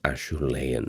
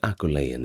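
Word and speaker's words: Acheulean: Now, we mentioned the Aulean um or rather I should say the Ashlean, excuse me, correcting my pronunciation, but Aulean is still okay.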